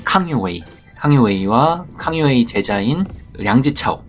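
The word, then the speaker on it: 康有为: 자각 운동이라고도 부르는데요 캉유웨이 강유이 그니까 한자를 우리식으로 읽으면 강인데 중국식으로 발음을 하면 캉유웨이 캉유 웨이와 캉유웨이 제자인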